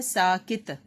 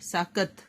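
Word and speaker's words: سَاکَت: شد بھی، لام ساکن۔ اگلا لفظ ہے ساکت، سین کے اوپر زبر اور کاف کے اوپر زبر، ساکت، تے کے اوپر جزم، ساکت۔ اگلا لفظ ہے مباحثے، میم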